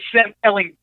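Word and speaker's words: Ehlinger: Maryland, and that is Sam Elling. I hit that hard G there, Tom Herman.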